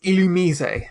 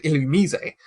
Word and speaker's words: Illumise: It's the Pokemon Illumise. I can't even. Because most people would pronounce it Illumise. Yeah. Or Illumise, or Illumise. But it's Illumise.